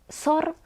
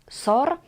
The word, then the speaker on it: SOR: And here, SOR is pronounced as a word, not as letters; we say SOR.